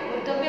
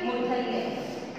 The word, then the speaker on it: मूर्धन्य: मूर्धव्य वर्ण नहीं दिए हुए ना, मूर्धन्य, इसका उच्चारण मूर्धा।